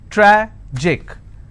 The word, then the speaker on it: tragic: it's pronounced that panic tragic tragic i will stress on track magic i will stress